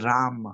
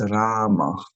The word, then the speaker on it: Rama: And sometimes we have the tendency to say Hare Ram, Hare Ram. But normally it's Rama, not Rama, but Rama, because there is 32 syllable.